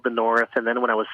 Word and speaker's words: NXRTH: So it's the North, but it doesn't look like the North unless you know it's the North.